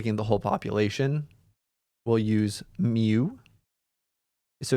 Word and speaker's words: mu: whole population we'll use Mew so it's it's it's pronounced Mew like the Pokemon um it's it's not